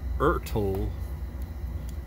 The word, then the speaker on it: Ertl: Now this is my Ertl, that rhymes with turtle, Hawaiian Tropic car from